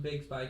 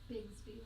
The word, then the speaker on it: Bigsby: Shout out to the Big Spy kid. Shout out to the kid. It's Bigsby, by the way.